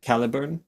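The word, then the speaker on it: Caliburn: Calibburn like total or it's um it's pronounced Calibburn.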